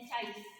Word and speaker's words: Zeiss: Dia ada poster-poster ada di belakang Anda, ada tulisannya teleskop refraktor ganda Zeiss, atau kalau itu karena dari bahasa Jerman jadi dibacanya Zeiss gitu ya.